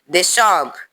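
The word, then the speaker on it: décembre: December. It means December. Again, December. In English, December. There is an accent on the word December. It is on top of the E.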